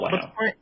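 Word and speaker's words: Huayno: how do you pronounce Wino? Whatever. Oh, sorry, how do you spell Wino?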